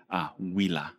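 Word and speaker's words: Huila: was like what's the who Leah everyone talks about is that Julio well you know the locals say wila Villa and I said oh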